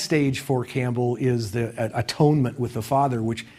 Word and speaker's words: atonement: The next stage for Campbell is the atonement with the father which Campbell always insists that we pronounce at onement instead of atonement which means that we